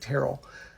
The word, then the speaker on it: Terrell: Now before, when the HR people were looking at it, they saw Terrell, which we pronounce it Terrell.